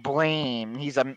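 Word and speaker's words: Blame!: Yeah, it says blame, pronounced blam.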